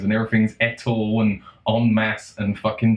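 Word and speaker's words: en masse: m aou s e I'm pretty sure if you were saying it you would pronounce it on mass it just means a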